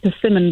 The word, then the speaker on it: Persimmon: It's persimmon, by the way. I heard you say it.